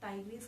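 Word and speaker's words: tigris: ठीक है, then टाइगर की जब हम बात करते हैं तो क्या होता है, ये पैंथेरा टाइग्रिस, कई टीचर्स इसको टिग्रिस भी बोलते हैं, बट उससे कोई फर्क नहीं पड़ता क्योंकि स्पेलिंग तो वैसे भी चेंज नहीं होने वाली इसकी, ठीक है।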